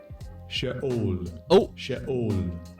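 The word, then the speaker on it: Sheol: Let's hear how it's pronounced. Strong's age 7585. Shaol.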